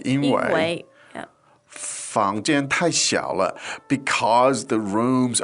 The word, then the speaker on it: 因为: 因为 Now, it's written like 因为, but it's pronounced in this case like 因为 yeah.